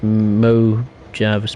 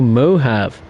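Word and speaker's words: Mojave: to go crazy dash mo java's pronounced oh mohave and cajun is preserved cajon cajon okay mohave and cajon yeah again apologies uh for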